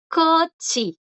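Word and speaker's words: 꽃이: ¿Qué pasó aquí con la CH? Cochi. Que le sigue ahora una vocal. Ahora le sigue una vocal y la regla es, tienen que ser bachim y tiene que seguirles consonante o ser la última para que estas tres suenen como una D. Si no, suenan como ellas.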